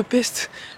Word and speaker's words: Pest: Puisque là, ici, nous sommes du côté de Pest, qui se prononce aussi Pest.